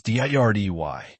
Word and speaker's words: dirty: Dirty, pronounce it as dirdy.